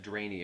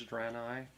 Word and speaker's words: Draenei: why it's like, and why all of us said Draenie at first because I believe it's spelled Draenie, Something like NEI or something like or EI. DRANEI, something like that. It's like you want to say Draenie, but I'm pretty sure it's Draenei.